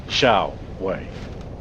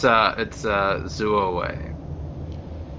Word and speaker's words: Zuo Wei: I think I'm pronouncing wrong. Give me a sec. Just thought I'd double check here, because you're about to drop a fat man into it. Oh no, it's Zuo Wei.